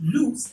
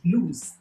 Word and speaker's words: loose: pronouncing l oo.s a it's pronounced loose and not lose it's very common to